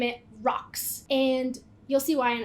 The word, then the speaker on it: ROCTS: I'm gonna name it rocks and you'll see why in a second there's a T in there it's gonna be silent I'm just gonna pronounce it as rocks that way I can